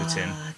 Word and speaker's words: poutine: way I pronounce poutine, because it's pronounced poutine, not poutine.